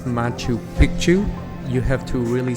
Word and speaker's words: Machu Picchu: so don't say it wrong just say it machu picchu there are several mountains that you can hike